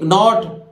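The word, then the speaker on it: knot: इसी तरह देखिए के एन ओ टी नॉट, के नहीं बोलेगा वो, नॉट एन ओ टी नॉट नहीं होता है, पर के है इसलिए नॉट, तो नॉट बोलते हैं गांठ को, नॉट किसको बोलते हैं, गांठ को बोलते हैं।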